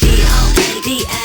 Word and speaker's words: Gonda: Oh, it's GONDA. Pronounced Gonda behind the duct tape window of a Honda.